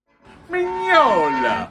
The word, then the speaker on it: Mignola: Mignola. Lo pronuncio correttamente?